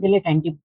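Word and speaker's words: dilettante: इट्स a noun, and इसकी जो pronunciation है डिलेटेंटी पढ़ सकते हैं हम लोग, डिलेटेंटी, ठीक है।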